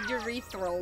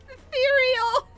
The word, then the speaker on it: ethereal: me mispronouncing things horribly like when i said urethral last last night yes and seth urethral i bet it's ethereal i i think about that